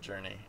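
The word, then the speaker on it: JRNE: name is J R NE e and I pronounce it journei um oh wow oh that's awesome um well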